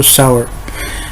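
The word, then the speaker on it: sour: Okay, कुछ लोग सौर बोलते हैं, सौर बोलना गलत है, इसको सावर बोलना कहना पड़ता है। सही है, प्रोनाउंसिएशन सही प्रोनाउंसिएशन है सावर।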